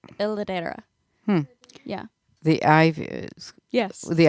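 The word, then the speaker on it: L'edera: The- Ledra. No, it's like I looked at the pronunciation. It's like Ladera.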